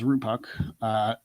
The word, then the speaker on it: Rupak: You pronounce my name as Rupak.